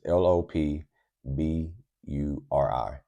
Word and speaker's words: Lopburi: It's it's l o p b u r i. But I while living there, I have gotten so used to saying uh Lopburi. Or this is kind of like how they pronounce it.